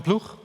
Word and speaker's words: Ploeg: as well these issues are addressed by john plug i'm pronounced in dutch welcome jean blue and he's